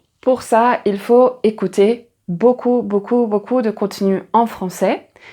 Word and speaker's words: beaucoup: Et là la faute typique, c'est merci beaucoup et merci beaucoup. Alors merci beaucoup.